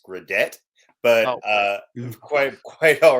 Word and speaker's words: Gradet: hate to start on a contrarian note it's gradet but uh quite quite all right we'll go